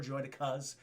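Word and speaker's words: droidekas: I prefer droidicas, as Nute Gunray pronounces them. That's the correct pronunciation in my opinion, Chad, droidicas.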